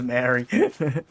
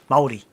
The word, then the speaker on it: Māori: Yeah, it was Maori. Well, the Moriori were here first. The Moriori were eaten into extinction by the Maoris. Māori. Say it right, Glen. You're going to upset even more people saying Maori.